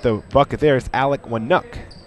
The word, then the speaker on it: Wnuk: bucket there is Alec wuck Wu's name is spelled wnuk so a silent a in there and wook has his first point